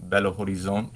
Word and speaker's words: Belo Horizonte: Yeah, so we flew to Sao Paulo, and then we flew to Belo Horizonte. Yeah. Got the pronunciation Guys right.